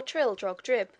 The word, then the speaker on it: Trildrogdrib: It contained a warrant for conducting me and my retinue to Trildragdub, or Trildrogdrib, for it is pronounced both ways as near as I can remember, by a party of 10 horse.